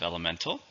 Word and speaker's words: elemental: We also have elemental, which is basic or simple but strong. It's an adjective. How many syllables in elemental? 4, stresses on the third syllable.